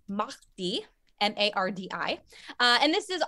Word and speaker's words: mardi: in spanish it's martez and in french it's mahdi m-a-r-d-i uh and this is also what americans pronounce as mardi gras which means fat tuesday